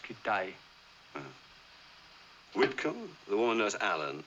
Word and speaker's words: Kitaj: in danger there's hedgepath kitaj no it's pronounced kidai whitcomb the woman knows